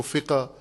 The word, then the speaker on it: فقہ: یہ اردو کا اپنا ایک انداز ہے کہ عربی تلفظ کو اردو والے اپنے انداز سے تلفظ کرتے ہیں. فق کو فقہ، سط کو سطح، فت کو فتح.